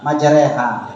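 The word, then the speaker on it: مجريها: Dibacanya gimana? Majreha. Namanya apa itu? Imalah.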